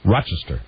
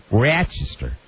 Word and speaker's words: Rochester: Rochester Rochester uh Rochester you don't you don't pronounce the s in it it's Rochester Rochester uh and really if you're a native up there because I know people from our it's Rochester because they have kind of have the flat